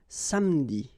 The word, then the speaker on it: samedi: Okay, same thing here, appeler, but then you get appeler, appeler, and then samedi.